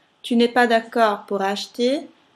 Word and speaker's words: acheter: Pour acheter, CH si pronuncia CH, la E muta, la R dell'infinito non si dice. Acheter, H, se fate la divisione in sillaba, la E rimane alla fine della sillaba, per cui muta.